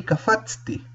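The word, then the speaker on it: קפצתי: Y en el pasado femenino, en el singular, yo salté, los vocales también van a variar y se va a pronunciar ani kafatsti.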